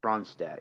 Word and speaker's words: Ronstadt: Yeah, I can't pronounce her last name. That's I who think I have down as yeah, well. it's Ronstadt.